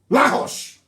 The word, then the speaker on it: Lagos: Lahosh. Lahosh, that's the correct pronunciation.